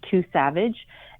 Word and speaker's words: II_SAVEDGE: It's pronounced Too Savage.